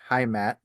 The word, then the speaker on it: Heimat: I don't know how to pronounce it, but I think it's Heimat. Um, Heimat, yeah.